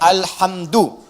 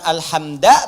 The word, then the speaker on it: alhamdu: Dibacaannya alhamdu, bukan alhamda pakai fathah atau alhamdi pakai kasrah. Ya, apa bacanya? Du, alhamdu pakai dhammah.